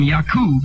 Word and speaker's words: Yakub: they come from black people and come from Yakub is the correct pronunciation, what does that say about Yakub and black people?